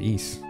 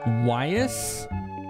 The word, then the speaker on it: Ys: But yeah, it's East. You called it YS? YS? YS. Like you said the 2 letters separately?